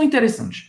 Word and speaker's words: intéressant: Elles sont intéressantes. J'ai rencontré des gens intéressants. Intéressant. Ou seja, ao contrário do português, você não vai pronunciar o T no final.